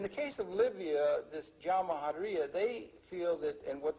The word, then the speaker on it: Jamahiriya: You'll hear Colonel Gaddafi talk about the Jamahiriya, pronounced Jamahiriya, which roughly translates, in an Arabic term, which roughly translates out the state of the masses.